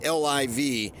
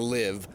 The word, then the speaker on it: LIV: as I took it he called it the livv not the live he spelled it out